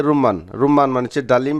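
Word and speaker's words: رمان: ডালিমকে বলে থাকে রুমান, সঠিক উচ্চারণ হচ্ছে রুম্মান। সৌদি আরবে আপনারা দেখবেন রুমান, আর সঠিক উচ্চারণ হচ্ছে রুম্মান, রুম্মান মানে হচ্ছে ডালিম বা ডালিম ফল।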